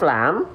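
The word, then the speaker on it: لام: Banyak orang melafalkan lam itu masih serupa dengan huruf L pada abjad alfabet. Nah, ini tidak betul-betul serupa sebenarnya ya. Kalau huruf L alfabet itu kalau kita lafalkan hanya menyentuhkan ujung sisi lidahnya saja.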